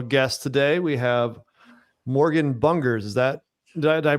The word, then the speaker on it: Bungerz: got a special guest today we have Morgan bungers is that did I pronounce that right nailed it yeah awesome uh